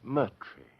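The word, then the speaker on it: Moriarty: Uh, my name my name is Mertrie.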